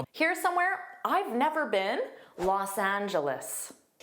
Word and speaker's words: Los Angeles: And notice the next part. Angelus. The last sound is an is. Isl. Angelus. Now, in this case, always say loss. So, native speakers don't just say, they always say Los Angeles.